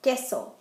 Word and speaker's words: queso: Q is the same, except for when there's a U after it, the U is going to be silent, like in que, what, or queso, cheese.